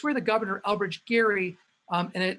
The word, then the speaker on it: Gerry: where the governor elbridge gary um and that's pronounced with the hard g g gary and some